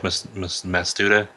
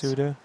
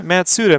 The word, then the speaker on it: Matsuda: Yeah, Matsuda, man. Yeah, I know. I said it wrong. I was putting the S before the T or the yeah.